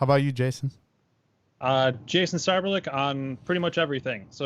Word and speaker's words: Seiberlich: as well so yes and that's jason cyberlick not sieberlich or anything like that that's a lesson that's